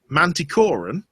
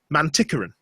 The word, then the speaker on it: Manticoran: main character's nationality so instead of being Mante Corin for the entire book she's mantian which doesn't sound like a lot but when it's